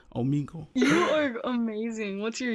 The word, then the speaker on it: Omegle: So it's pronounced Omegle. I've been pronouncing it wrong this whole time. Omegle.